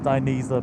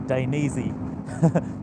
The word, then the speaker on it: Dainese: about an hour ago how to pronounce diniza properly I used to say Dan easy but uh yeah forgive